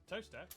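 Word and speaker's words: Towcester: mausol next travel north up to tower sester toaster then a quick jaunt to gotham goatum followed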